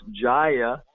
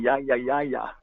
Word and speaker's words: Jaya: All the Latinos say ya, Guru Dev. Y los latinos dicen Yaya Yaya Gurudev. But the actual pronunciation is Ja, like in Gino.